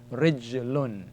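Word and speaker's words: رجلٌ: Rij, Ra joined to the Jim. Ra carries a kasra. So it's Rij, and then Lam tanween dhamma, Lun. Rijlun.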